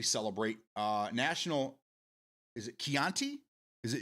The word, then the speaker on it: Chianti: Today we celebrate uh National Is it Keianti? Is it It's It's Is it It's It's the wine, right? It's not chianti.